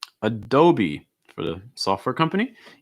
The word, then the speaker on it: Adobe: up starbucks starbucks and adobe adobe for the software company you want to make sure you're holding that e sound long i at the end so it's not adobe it's adobe adobe alright